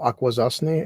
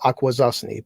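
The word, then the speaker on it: Akwesasne: it's called It's New York State it's called aquaza and I was born on an Indian Reservation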